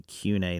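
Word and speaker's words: Koine: nerd you know that the pronunciation system stuff is changing it would actually be Q&A now if you're depending on who you study under but I we'll just go coin a because that's old school people so he'll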